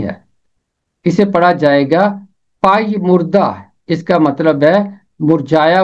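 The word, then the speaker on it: پژمردہ: ہیں، اس کے علاوہ اور اس کا کوئی تلفظ نہیں ہے، اسے پڑھا جائے گا پائی مردہ۔ اس کا مطلب ہے مرجھایا ہوا، کملایا ہوا،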